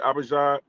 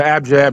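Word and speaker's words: abjad: When you start talking about the abad, is that how you say abad? The the abjab, the consonant.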